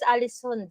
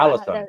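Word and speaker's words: Ålesund: first one is Alisund. Alisund. That's why. Allison. Yeah, that's Yes. how you pronounce it.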